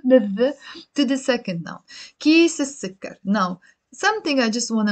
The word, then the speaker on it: كيس السكر: And here, كيس السكر, pronounced as كيس السكر. So we're not pronouncing the lam.